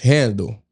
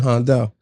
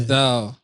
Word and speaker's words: Handel: He his name is pronounced handle. Handle. Yeah. But I'm not European, you know. So in my culture we call it handal. Okay. Handal.